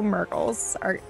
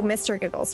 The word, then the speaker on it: Mr. Giggles: You mispronounced her name, yes, Mr. Giggles. Oh, Mr. Giggles, right? Sorry. It's my own best friend. I should know how to pronounce her name. It's Mr. Giggles.